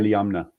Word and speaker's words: Iliamna: Iliamna. I think Iliamna. that's how Okay. you pronounce it.